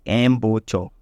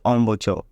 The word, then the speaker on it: embouchure: precise, we call it embouchure, because we like to pronounce it every letter. Because it starts with an E, we call it embouchure, but I think it's a French word, so it's pronounced embouchure, starting with an E, right?